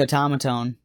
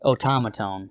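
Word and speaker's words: Otamatone: thinking of yeah so that and then the automaton that's that japanese battery-powered instrument yes it's actually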